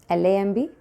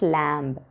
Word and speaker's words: lamb: L-A-M-B. What is the pronunciation? It's not lamb, lamb.